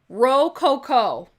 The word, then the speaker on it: Rococo: Okay, it's pronounced Rococo.